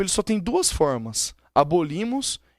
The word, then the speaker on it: abolimos: Por exemplo, em abolimos, qual é a sílaba tônica? Abolimos, no li.